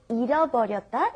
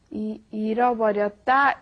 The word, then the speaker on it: 잃어버렸다: We had 잃어버렸다, and then we compared that with 잊어버렸다. And like I said, they are interchangeable at certain situations, but you want to make it very clear when you pronounce it. It's very hard to say. 잃어버렸다 is I lost it. 잊어버렸다 is I forgot it.